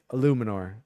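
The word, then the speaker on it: Eluemunor: And Germaine Illuminor, I I right, that's how you pronounce that. I I looked this up last week and I forgot. Yeah, I think it's Illuminor. Um, yes, Illuminor is how you pronounce this fell's name.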